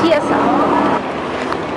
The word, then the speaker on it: chiesa: Hoy aprendí que no se dice Chesia, se dice Chiesa.